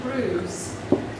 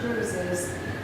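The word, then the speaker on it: brewis: they have over there is called fish and bruise which is spelt b-r-e-w-i-s um and it's basically heart attack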